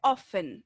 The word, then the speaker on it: often: Se escribe often, ¿sí? Pero se pronuncia often. La T, ¿cierto? Es mudita.